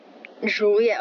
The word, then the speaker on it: Joliet: Then Joliet, okay, I don't see the I, but, okay. Joliet, that's how you pronounce it.